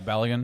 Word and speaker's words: Balogun: Yeah, I don't know how to pronounce his name now that I say that, but Balogun Yeah, Balogun is his name.